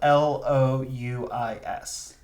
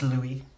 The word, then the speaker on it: Louis: Um, and it should be noted that this is the French Lou, so it's spelled L O U I S. Like Louis, but they Yes, but it's Louie. Louie.